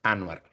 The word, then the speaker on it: Anuar: Para lo que siempre se equivocan, mi nombre se pronuncia Anuar, como si fuera U. Entonces, para que sepa que siempre me dicen Anwar, pero es Anuar.